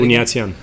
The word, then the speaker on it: Buniatyan: Buniatyan. Buniatyan.